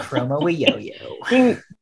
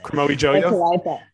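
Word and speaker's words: Kromowidjojo: Renomi Chromo Yo-Yo. No, you pronounce. Don't you pronounce the first J, but not the second one? Who's to say? Chromo Yo-Yo.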